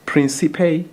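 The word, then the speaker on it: Príncipe: How do you pronounce which? Okay. This one is South. Mhm. Uh, it's Principe.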